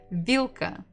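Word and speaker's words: вилка: Remember that this ll is hard not v will. So maybe if it's difficult for you, try to be angry and say vila and you'll get the proper pronunciation. We stress the first syllable e va.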